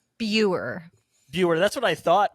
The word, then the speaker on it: Buer: with pronunciation of last names how do you pronounce your last name beer viewer that's what I thought but I knew